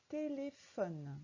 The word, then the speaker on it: téléphone: Le téléphone. Dans téléphone, le son F s'écrit PH.